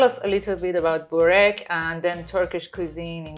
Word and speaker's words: burek: try some very popular Turkish food, which is burek, Yes. if my pronunciation No, is it's correct.